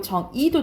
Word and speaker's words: 정의: 첫 번째 글자가 아니면 뭐도 허용? 이로 허용. 그래서 정의도 되고 정이도 된다 이 말이에요.